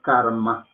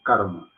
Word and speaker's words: karma: Pero no es karma, como se pronuncia, sino karma.